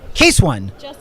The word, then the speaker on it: Case.one: how you taste one case one no no its case that one what's good the dot is silent and the dot is